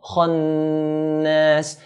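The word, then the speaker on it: الْخَنَّاسِ: Kha is a heavy letter in the Arabic alphabet, so we pronounce it in a heavy manner. Kha, khannas, min sharril waswasil khannas.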